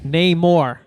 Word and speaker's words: Namor: Namor. I know. Literally just remember Namor. I'm gonna write it down. How about this? Do the Namor. More, just the way you say it.